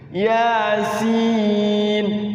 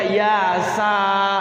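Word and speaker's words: يس: harus tahu nama hurufnya Yasin tidak dibaca Yasa gitu kan iya harus tahu nama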